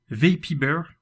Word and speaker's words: Vapybear: Vapibear, je le prononce bien cette fois-ci.